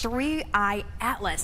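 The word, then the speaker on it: 3I/ATLAS: Three I atlas that's the correct way to pronounce it.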